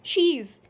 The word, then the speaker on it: she's: How we have to pronounce it? She's. As you can see on the screen, I wrote here SHEEZ. Okay, she's. So just speak it like a she's.